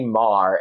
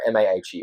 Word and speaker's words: Maher: Why is it pronounced that way? I thought it was I say that in an American accent. Okay, I thought it was Maher. No, it is. Look, in an Australian accent, it's Ma, Maher.